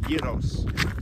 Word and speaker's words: gyros: It's spelled gyros, but I learned it's actually pronounced gyros.